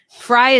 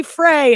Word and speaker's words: Frey: sorry married into family Frey is the German pronunciation I would assume I think so that is the way we say it but I know a